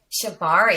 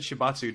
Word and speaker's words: shibari: i said it right did i say it correctly shibari shibari i said shibatsu didn't i is that the wrong one is that different is